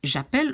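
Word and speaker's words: j'appelle: i call japel and you see i pronounce it japel why because you know i i won't have sorry i won't have two vowels and e and and a together so i take away the e and i put a little accent and i i pronounce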